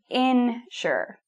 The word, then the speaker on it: insure: So notice the difference in pronunciation. A-sure with an A sound and insure with a in sound.